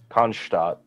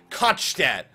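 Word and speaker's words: Konschtat: However the fuck that's pronounced. It's K-O-N-S-C-H-T-A-T. Konstadt, I would say.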